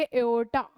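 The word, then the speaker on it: aorta: इसको प्रोनाउंस करेंगे एओर्टा।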